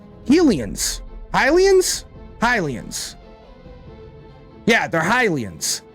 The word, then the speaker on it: Hylians: That's like, Hylians. Hylians? Hylians. Yeah, they're Hylians. I always pronounced them Helians when I was growing up as a child, reading it on the television screen, playing Ocarina of Time.